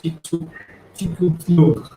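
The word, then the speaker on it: Chicxulub: And Chikutlu, ये बहुत different name है pronounce करने के लिए, but it is pronounced like Chikutlu impact.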